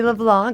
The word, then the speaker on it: LeBlanc: names one more time cuz I kind of butchered it leblan it's with an i LeBlanc L EB